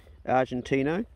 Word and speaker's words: Argentino: His father came directly from Argentino, or Argentina at least. It's actually pronounced Argentino if you're talking about the breed.